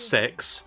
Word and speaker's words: CeX: the commercials for cex they literally pronounce it as sex like i'm not even kidding it's like that um